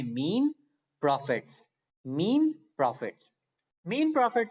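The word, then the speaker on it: mesne: ही मुश्किल होती है कोई मिशन पड़ता है कोई मींस पड़ता है कुछ कहना पड़ता है लेकिन सिंपली इस या साइलेंट है इसको करते हैं मीन प्रॉफिट मीन प्रॉफिट का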